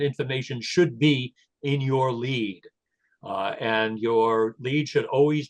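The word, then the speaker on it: lede: Yes, many reporters do in fact read press releases, but sometimes they only read the lead. Lead is spelled L-E-D-E.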